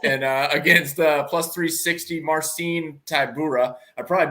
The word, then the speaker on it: Tybura: So Aspinall and against plus 360 Marcin Tybura. I probably butchered that one worse.